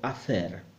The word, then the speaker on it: hacer: Now, it's good to remember the H never sounds. So, every time you see an H in Spanish, don't pronounce it at all. Don't make any effort. So, hacer, hacer.